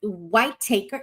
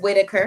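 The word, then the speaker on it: Whittaker: Uh W White Taker. Is it Whitetaker? Is that how it's pronounced? Whitaker. Whit Whitaker. Okay.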